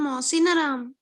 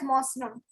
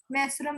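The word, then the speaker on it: Mawsynram: The answer is correct, but the pronunciation is not. Who will tell me the correct pronunciation of the state? The city, sorry. It's known as Mosram. Okay, Masuram भी बोलते हैं इसको Masuram, right?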